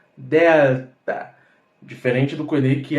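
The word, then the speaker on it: δέλτα: Delta Olha que interessante da mesma forma que pronunciamos Alfa também pronunciamos Delta diferente do que que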